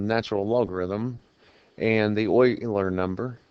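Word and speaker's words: Euler: was discovered by lionard Oiler and I think I pronounced his first name right um if not it's close and I know his last name is correct um Oiler was born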